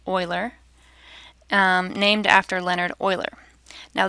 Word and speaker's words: Euler: It's not Euler, it's pronounced Euler, named after Leonhard Euler.